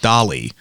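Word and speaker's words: DALL-E: an image artificial tell it's called Dolly but it's spelled like Wally but with a d so it's sort of like Salvador Dali but also like Wally the company is open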